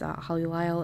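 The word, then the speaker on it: Holly Lisle: Her name is Holly Lyle, L-I-S-L-E, just in case you don't know how it's spelled.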